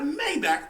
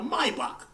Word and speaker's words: Maybach: then because you got a Maybach or let me say it correctly a Maybach and you got a